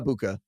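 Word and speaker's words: Egbuka: think it's a Mecca abuka and if I'm wrong we can it's just like you kind of gloss over the G you split the G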